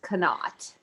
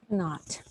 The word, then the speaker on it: Knott: And just, you know, his last name is pronounced Knott. Knott.